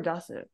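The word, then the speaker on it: 出す: So if we have su after this kanji, is it pronounced as deru or dasu? Dasu.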